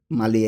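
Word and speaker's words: maglia: মালিয়া এখানে জি এর উচ্চারণটা কিন্তু হবে না।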